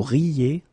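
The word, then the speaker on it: rient: that quite many times, you don't pronounce this final ENT.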